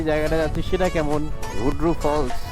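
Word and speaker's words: Hundru Falls: জায়গাটায় যাচ্ছি সেটা কেমন হুন্ড্রু ফলস হন্ড্রু ফলস উচ্চারণটা হন্ড্রু ফলস ব্রিজের ওই পাশে ব্রিজের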